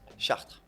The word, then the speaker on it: Chartres: Chartres. Chartres. Okay. Yeah, so you don't pronounce the E and the S at the end.